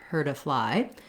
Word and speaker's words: hurt: d so this phrase hurt a fly is going to sound more like heard a fly so if you're thinking about it this way all linked together her to fly that's part of the confusion right it's there's my d i'm not saying the word heard i am still saying hurt but when i'm linking my t turns into more of a d i'm still going to